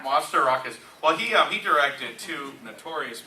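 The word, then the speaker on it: Mastorakis: Nico Masterakis. Masterakis.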